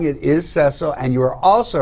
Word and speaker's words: Cecil: comment from mike about cecil the lion or cecil excuse me mike says rick unger gave away his age again 53. the zimbo lion's name was cecil pronounced with a short e i guess rick watched